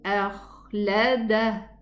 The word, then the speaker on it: أخلده: يحسب أن ماله أخلده. Same thing here. I'm gonna stop on a ha. Okay, it's gonna be a sukoon ha, and pronounce it properly so that it is heard.